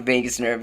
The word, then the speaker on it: vagus: the doctor about the Vegas nerve and she said I love Vegas and I was like no Mom it's spelled differently but but it sounds the same so welcome to my